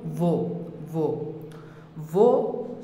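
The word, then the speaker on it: وہ: হলো সে ভো পেশ হে ভো এখানে ভো এর মধ্যে হে টা উচ্চারণে আসবে না ভো এর মধ্যে হে টা উচ্চারণে আসবে না তো উচ্চারণটা কিরকম ভো ভো সে ভো এর অর্থ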